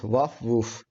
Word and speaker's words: WAFW00F: It is called as WF uh WF that is waf woof. Sometimes I feel really hard to pronounce the tool name.